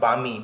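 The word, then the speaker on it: balmy: बामी, next meaning है आपका बामी, BALM साइलेंट है इसमें, बामी।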